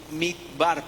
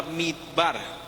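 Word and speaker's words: מדבר: La palabra viene del hebreo mikbar, perdónenme mi hebreo, ¿no? O sea, mi pronunciación en francés está mejor, pero no estamos hablando en francés. Desierto es la palabra midbar, que significa pasto, potrero.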